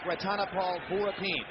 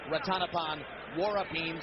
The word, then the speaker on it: Ratanapol Vorapin: He sings Thai country, and incidentally, yes, it looks like Ratanapol Vorapin, but we were told by those who speak Thai, and amazingly enough, we don't, that it should be pronounced Ratanapol Vorapin, so that's what we're doing, following the instruction we were given.